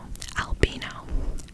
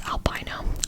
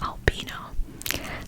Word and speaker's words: Albino: pronunciation of it because I totally would have pronounced it wrong, but it's called, but their name is albino. I probably would have read it as albino, but it's albino. So A L B I N O, albino.